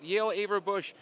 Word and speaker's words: Yael Averbuch: coaches convention here at the cal south booth yael averbuch nice enough to be signing autographs today for